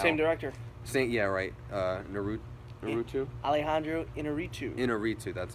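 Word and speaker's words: Iñárritu: Inarritu, that's how you say it.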